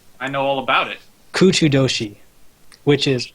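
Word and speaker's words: 空中都市: quick okay um I know all about it kuchu Doshi which is how you say the floating city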